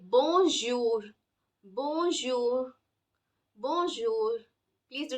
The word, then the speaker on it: bonjour: would be as in in English we have pleasure measure treasure try saying these words the the sound that